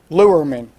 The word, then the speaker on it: Lerman: area director is angel please pronounce your last name lure men three syllables right I'll try to remember that angel Lerman and what we're going